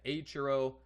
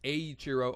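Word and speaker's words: Eiichiro: Aurro rather, yes, Aiurro Oda. I'm pronouncing it correctly now.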